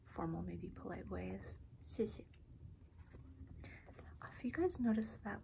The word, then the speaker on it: 谢谢: like the anglicization, but it's pronounced 谢谢. And so it's a bit sharp, it goes down a little.